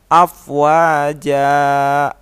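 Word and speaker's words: أفواجا: tulisan app wajan dibaca afwaja Oh ya tulisan app wajan dibaca afwaja jadi part hartanya tidak dibaca lagi dibaca fathah biasa sepanjang dua harokat hai eh Hai di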